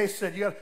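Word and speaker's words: hesed: spitting your idea it's it's h-e-s-e-d but it's pronounced in in Hebrew okay he said like hutzpah they said they said say that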